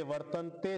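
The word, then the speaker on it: वर्तन्त: असं असं होतं तर इकार पुढे असताना ए गायब झाला वर्त त्यामुळे उच्चारण करताना गुणागुणेशु वर्तंत असं म्हणायचं मत्वा सज्जते मत्वा मत्वा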